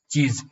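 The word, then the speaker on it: cheese: double E एस ई चीज ये चीज क्यों नहीं है चीज इसलिए नहीं हुआ कि सी एच के बाद जब भी कोई ई आई वाई आए तो उसका उच्चारण छ होगा ठीक है समझ समझ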